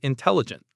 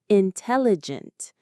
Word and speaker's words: intelligent: Here, he's trying to look intelligent. Let's focus on the pronunciation of that word. It's a big one. Intelligent. Intelligent. It has 4 syllables. Where is the stress? It's on the second syllable.